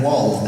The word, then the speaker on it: Wald: Now Wald, am I pronouncing that? That's it, that's Wald, yes.